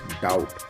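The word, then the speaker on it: doubt: होती है जैसे हम डी ई बी टी की बात करते हैं this is date D ओ यू बी T this is डाउट तो इसमें ब की साउंड साइलेंट हो जाती है तो यहां पर हमने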